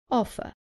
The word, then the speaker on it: offer: Offer. Remember that in British English, the R at the end is not pronounced, so the last sound is an offer.